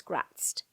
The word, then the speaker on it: Graz'zt: another powerful demon, Prince Gratzt, or Grazit, depending on how you pronounce that. I've heard it done both ways, but I'm going to go with Gratzt.